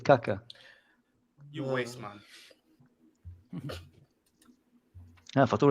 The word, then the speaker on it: Kaká: I said Kaka, Now watch the Kaka.